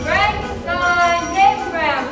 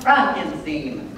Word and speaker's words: Frankenstein: the test is Miss Frankenstein Dr Frankenstein Dr Frankenstein that's frankinstein my name is pronounced frankinstein if you say so it's from overseas Transylvania